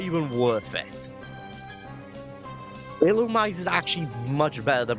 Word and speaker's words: Illumise: move in a in a battle with an illumise? And yes, that's how you pronounce his name. Illumise. It's not iliz.